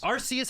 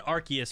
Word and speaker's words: Arceus: Arceus and Arceus are usually the main two, but there's a couple others that people will say too.